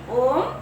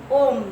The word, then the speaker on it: ओम: ठीक है, तो अ जमा उ जमा म इक्वल टू ओम ध्वनि उच्चारण होते हैं, जिसे ब्रह्मनाद कहता है।